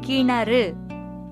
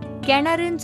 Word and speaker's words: கிணறு: இது கிணறு, சரியானது. கிணறுன்னு சொன்னா அது தவறான உச்சரிப்பு.